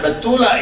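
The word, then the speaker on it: בתולה: Sehingga pemahaman Kejadian 24 ayat 16 itu sesungguhnya Betulah ini adalah wanita muda. Itu bacanya, cara bacanya.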